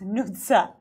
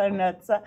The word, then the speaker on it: Nutsa: But you know, in American Idol, they were calling me Nutsa. So it's like, it's in Georgian, it's Nutsa. You're saying also Nutsa. Okay, we need to do the whole name. It's Nutsa.